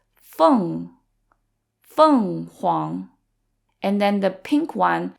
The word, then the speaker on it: 凤凰: e n versus f-e-n-g so the only difference is that f-e-n-g has a nasal sound at the end so it sounds like fun because it's also fourth tone so it's fun Huang and then the pink